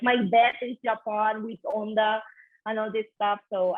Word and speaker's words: Honda: Oh, you guys say Honda, not Honda. Sorry, I pronounced it the Spanish way.